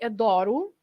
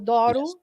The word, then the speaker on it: adoro: So the changing of the stress also changes the way the pronunciation of the O, the way we pronounce the O.